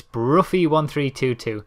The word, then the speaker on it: Bruffy: Now, just to let you know how to pronounce Bruffy1322, imagine it was spelt B-R-U-F-F or something like that. It's Bruffy1322. Rather than anything else.